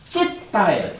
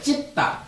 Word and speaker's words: citta: 심이라는 것이 빨리어로는 찢다예요. 찢다. 이게 알파벳이기는 하지만 영어적으로 발음되는 게 아니고 발음 부호에 있죠. 그래서 CITTA라고 쓰지만 요거를 찢다라고 읽어요.